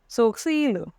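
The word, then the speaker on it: sourcils: Eyebrows in French is सोक्सील. सोक्सील थोड़ा सा different है. फ्रेंच में जो आर साउंड होता है वो ख की तरह प्रोनाउंस होता है.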